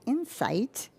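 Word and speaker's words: Inseyets: Item number 2, committee recommends council approve the upgrade to Celebrate, and this word is pronounced Insight, cell phone extraction software,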